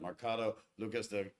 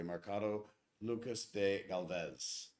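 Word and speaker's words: Mercado Lucas de Gálvez: traveling squirrel nailed it marcato lucas and i apologize for pronouncing this correctly mercado lucas de galvez but yeah we went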